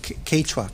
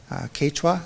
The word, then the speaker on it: Quechua: were speaking the main language was a quick Quechua forgive me if I'm pronouncing that wrong but it's spelled qu e